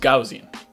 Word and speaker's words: Gaussian: today we're doing gauzy and Gaussian blur it's pronounced Gaussian na kasi and like I have been saying